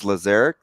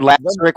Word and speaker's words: Lazaric: might throw a little pronouncing his name correctly it is lazaric lazaric yeah yeah thank you if I heard last Rick one more time I was gonna pull my hair out someone says Lazarus who says that anyway